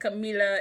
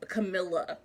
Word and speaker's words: Camila: I listened to the sample of the audiobook, and it was like Camila. It wasn't like a Camilla.